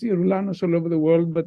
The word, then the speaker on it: Yeroulanos: a Y is pronounced yanos all over the world but yanos with a G is pronounced geranos geranos oranos depending on where you are the only benefit